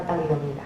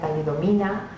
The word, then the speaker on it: talidomida: lo que es la talidomida. O sea, porque al principio los periodistas ni siquiera la pronunciaban bien, ¿no?, decían talidomina o la cambiaban, y cada vez hay